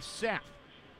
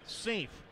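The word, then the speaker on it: Saief: US Men's National Team you may have known him with the men's national team as Kenny Seth but his name is Ashley we are told pronounced safe straight from the man himself yeah Cincinnati now out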